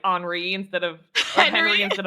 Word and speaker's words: Henri: There's a boy named Henri as well, and people were pronouncing it Henry, and I'm like, in the very beginning of the game, he tells you he's French. His name's Henri.